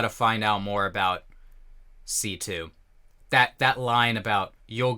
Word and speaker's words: C.C.: called C2 I mean it's spelled CC but they call her C2 so I guess that